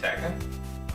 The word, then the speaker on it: Tekken: So I went to GameStop, asked for Tekken 2, and they said, "You mean Tekken?" I'm like, is that how you pronounce it?